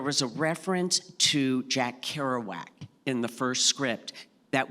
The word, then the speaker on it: Kerouac: a reference to Jack Kerouac in the first script that we decided we would never cast anyone who who pronounced it Jack heroic so that was a